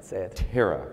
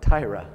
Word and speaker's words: Tyra: say her name right tara no tyra damn it tyra tyra